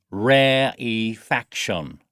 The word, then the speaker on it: rarefaction: phase please note that while rarefaction begins with the spelling are a are e the e is pronounced as a separate syllable so we say rare e faction I'll just write that